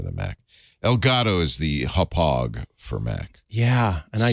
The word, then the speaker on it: Hauppauge: I would have said hoppage. No, it's pronounced Hauppauge, like you're hopping over a hog. Hauppauge.